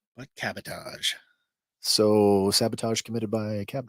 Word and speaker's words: cabotage: on y'all all right so cabotage cabotage cabotage like sabotage what cabotage so sabotage committed by